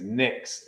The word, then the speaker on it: Nyx: I guess her name is Nyx, is I believe how you pronounce it.